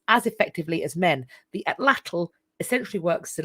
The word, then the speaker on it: atlatl: love to see there's a weapon called an ATL I that's how you pronounce it it's referred to as an equalizer